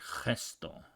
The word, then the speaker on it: gesto: It's spelled with a G. It'll be like gesto. Or with an I, it's like girasol, which is a flower. Girasol would be like girasol, something like that. It will be more guttural.